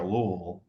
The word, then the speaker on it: Louisville: Got to get that flat pronunciation in there, Louisville.